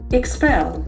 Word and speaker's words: expel: Expel. The accent falls on second syllable.